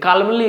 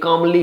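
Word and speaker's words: calmly: हम कमली बोल दिए द कलमली नहीं होता ये कमली होता है एल साइलेंट होता है क्लियर है बात तो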